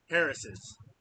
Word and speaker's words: Harris's: Harris's is how you say that.